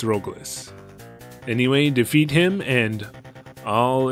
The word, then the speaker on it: Rogles: Also, I know it spells his name Loglis here, but I've been calling him Roglis just because that's how they spell it in most of the English Valis games. And I definitely understand calling him Rogles, by the way, but it's Roglis.